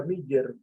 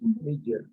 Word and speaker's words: Miller: Se pronunciaría Miller, doble L, Miller.